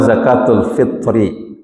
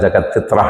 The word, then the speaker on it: zakatul fitri: Tentang zakatul fitri, bukan zakat fitrah ya. Seringkali salah pengucapan. Di kitab itu dituliskan zakatul fitri, bukan zakat fitrah. Ya, enggak akan ditemukan kalimat zakat fitrah itu enggak ada.